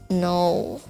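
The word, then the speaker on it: know: No, here the silent letter are K. No.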